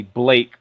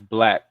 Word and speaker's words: Blake: I'm an African American, and I have been to many countries, and my middle name is actually Blake. So the countries I go to, a lot of them pronounce that as Black.